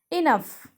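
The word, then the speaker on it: enough: जैसे बोलते हैं ना इनफ ई एन ओ यू जी एच इज the correct spelling E एन ओ यू जीी एच इनफ यहां पे जी एच की आवाज को फ की आवाज में बोला गया है नाउ दीज आर द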